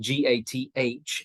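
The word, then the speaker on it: Gath: he takes gat um it's written g-a-t-h in our translations but it's pronounced gat and of course that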